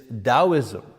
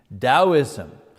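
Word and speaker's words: Taoism: first of which is dosm you know you pronounce the T like a D dosm um uh that comes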